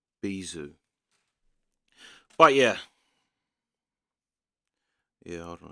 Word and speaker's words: bijou: See if it says how it's pronounced. Bijou. Bijou.